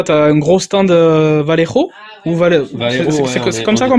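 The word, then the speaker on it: Vallejo: Donc là tu as un gros stand Valero ou Val comme ça qu'on prononce.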